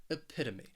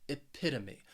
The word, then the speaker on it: epitome: have for you is epitome this word has four syllables and the stress is on that second syllable that that pit epitome and what this means